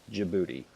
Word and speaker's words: Djibouti: down on the south is the port of Djibouti yes that's how it's spelled and that's how it's pronounced Djibouti right um there are strategic partner with the